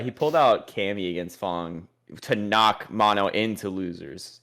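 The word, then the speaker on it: F.A.N.G: everyone I've heard that it's not Fang, it's Fong. Okay, well, he pulled out Cammy against Fong to knock Mono into losers in I think winners finals.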